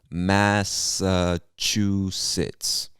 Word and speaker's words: Massachusetts: the list massachusetts massachusetts this was everyone's favorite to pronounce masa chu sits massachusetts say that three times